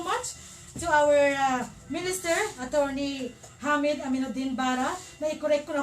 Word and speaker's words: Hamid: Thank you so much to our Minister, Attorney Hamid Aminuddin Bara. Na-correct ko na ho, sir. Dati, pinapronounce kong Hamid, pero sabi na sir, magkaiba ang meaning ng Hamid at ng Hamid. So that's the correct pronunciation.